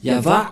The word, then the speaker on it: Yahvah: yava yava et on va voir comment on prononce cette parole yava il Shama yavashmo et nous allons voir son